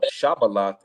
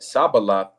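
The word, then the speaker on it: Shibboleth: If he said nay, then they said unto him, say now Shabalath. And he said Sabaloth, for he could not frame to pronounce it right.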